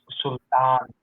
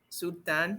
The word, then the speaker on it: Sultan: But if you pronounce it in Pakistan, where I belong, it's Sultan. Sultan.